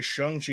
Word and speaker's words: Shang-Chi: yeah chung chi chi i keep want to say shang because i look at it and i think s-h-a-n-g like yeah his name is his well i guess name yeah sean and it sounds similar so it shung i was going to say if you want me to just say it by looking at it make it s h u and then i'll say shang chi every time but again